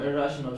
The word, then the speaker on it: irrational: Where's the stress? Irrational. Irrational. Yeah, irrational. Yeah. So again, irrational. Irrational.